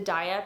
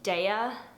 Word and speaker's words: Daiya: give it to the daiya pizzas which again i know i'm not pronouncing it right i know it's pronounced daya i like saying daiya